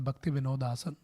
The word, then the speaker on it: Bhaktivinodasan: that place as the Bhakti Vinod Asan. I visited in 2023. Now it has been renovated by ISKCON Calcutta. Very beautifully they renovated. They say it like Bhaktivinodasan. Still it is said that Bhaktivinodasan.